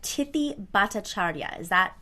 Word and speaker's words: Tithi Bhattacharya: I do need her to correct the pronunciation of her name so I get it right. But Tithi Bhattacharya.